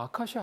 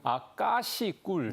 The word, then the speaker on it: 아까시: 아, 이게 사실 저도 어렸을 때 그냥 아카시아 아카시 했던 거 같은데 저도 사실은 세삼스럽게 깨달은 반데요. 정확한 우리의 이제 공식 명칭은 아까시 이렇게 이제 표현을 좀 해야 되는 거고요.